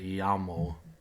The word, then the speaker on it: llamo: Me llamo is Spanish for my name is, and the double L is pronounced like a Y. Llamo.